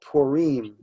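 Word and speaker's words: Purim: scheme ok so exactly it's actually pronounced Perrine ok so I'm wondering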